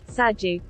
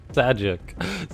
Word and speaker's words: Sajuuk: pick a harder bot name for me to pronounce. I even Googled it. Sajuuk. Sajuuk.